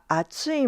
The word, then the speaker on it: 熱い: But when you're talking about something hot, we say kore wa atsui mono desu. Can you hear the difference? Let me read them again. kore wa atsui mono desu kore wa atsui mono desu Now,